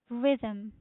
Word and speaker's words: rhythm: this pronunciation is rhythm rhythm rhythm Rhythm. So the stress is on the first syllable which is rhythm.